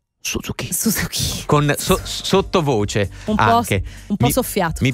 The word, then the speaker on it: Suzuki: più diffuso del Giappone Suzuki No non si pronuncia così si pronuncia Suzuki Suzuki con sottovoce anchei